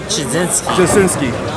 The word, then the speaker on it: Jachcinski: Mike Jacinski.